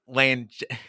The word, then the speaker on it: Langella: Frank Langella.